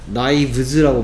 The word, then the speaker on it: knives: 그래서 소리 내는 방법이 똑같은 V로 바꿉니다. knives라고 발음해요.